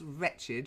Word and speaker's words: wretched: English pronunciation so here we have the word wretched with the W that's wretched you wretched thing you